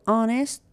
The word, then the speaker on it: honest: L is silent dishonest so honest H is silent knowledge K is silent